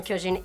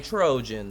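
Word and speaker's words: 巨人: known as Shingeki no Kyojin, is among my favorite Shingeki. Shingeki. No, Trojan. Kyojin. What? Shingeki no Trojan. No! I'm not gonna let you go with this. Say it right because it's my favorite.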